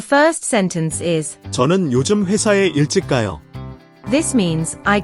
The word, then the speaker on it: 회사: Here's how to pronounce it. 회사, 회사.